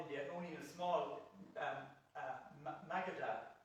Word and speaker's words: Magadha: only in a small Magadha, that's the right pronunciation. Yeah, Magadha.